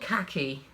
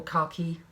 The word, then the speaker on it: khaki: So this is 100% wool, I think, but it is designed for socks anyway, and it's called khaki or khaki, depending on how you say it.